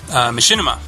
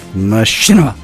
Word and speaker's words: Machinima: She was part of BRB, and she has since moved on to Machinima.